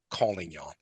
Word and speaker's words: Collignon: of the academy, Antonette calling y'all. Am I pronouncing your last name correctly, Antwinette? Superb. Thank you so much.